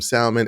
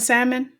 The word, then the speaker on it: salmon: home and eat some salmon and a satet eat healthy did you just pronounce the L and salmon I did that L is silent oh no no I like saying salmon I hate it you